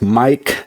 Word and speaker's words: Maic: letters where it says Mike Diagnostics. Yes, my name is spelled different M A, but it sounds like a regular Mike.